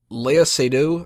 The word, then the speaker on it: Léa Seydoux: Léa Seydoux, I think is how you pronounce her name, is one of the villains in this.